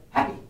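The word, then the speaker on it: Hapy: into the final jar this one i think we actually agree on how to pronounce it while it's spelled h-a-p-y we're going to say it's the god happy happy so this particular god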